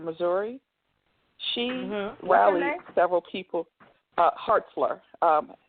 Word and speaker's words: Hartzler: a female senator named Hartzler out of Missouri. She rallied several people. Hartzler, Hartzler, I believe, is how it's pronounced, spelled.